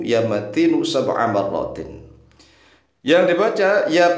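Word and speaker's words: مَتِينُ: Ya qawiyyu ya matinu sab'a marratin. Sebanyak 7 kali. Perhatikan cara membacanya. Ya qawiyyu yu-nya dibaca, ya matinu nu-nya juga dibaca.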